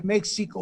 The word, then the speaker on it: México: nunca hemos el castellano la equis se pronunciaba jota y ahora se escribe méxico o mexico y da